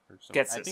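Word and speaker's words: Ghetsis: like what I was really thinking about was Gatesis, who, or I forget how to fucking pronounce his name. Or yeah, I think it's what was that? Getsis. Getsis.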